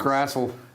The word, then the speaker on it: Grassl: Grassl. Yes. Rhymes with hassle, but he's not a hassle. And there's no E.